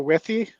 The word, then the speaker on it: Withy: Is it Joe Withy? Yeah. Yes. Or Wifey? Yep. No, Joe Withy.